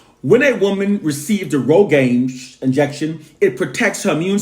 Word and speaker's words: RhoGAM: doctor has to give her something called a Rogame injection. That's spelled RHOGAM, Rogame injection, to prevent her body from trying to naturally abort it.